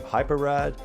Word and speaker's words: Hyperide: If they wanted to call their game Hyperide, it's going to have 2 R's and probably should be 2 separate words. So, as it's spelled, I'm going to go with Hype Ride, which this game is nothing but hype.